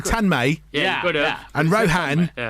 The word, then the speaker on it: Tanmay: We're joined in the studio by Rohan and Tanmay as well. See, very Indian way I pronounce it. Well done. Well done. I could have said Tanmay.